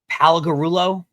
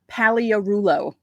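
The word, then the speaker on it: Pagliarulo: First, I have to say that Brian not knowing how to pronounce the name of Mike Paligarulo. I'm probably pronouncing it. Paliarulo. You don't say the G.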